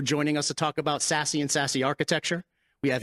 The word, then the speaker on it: SASE: hype cycle definition of sassy so here's the definition as listed secure access service edge pronounced sassy delivers multiple capabilities such